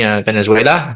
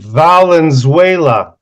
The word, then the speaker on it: Valenzuela: there's yes pushed by Venezuela if I pronounced that name correctly Valen Valenzuela thank you so much I